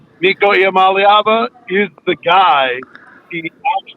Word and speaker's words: Iamaleava: It's Nico Iamaleava. Nope. Iamaleava.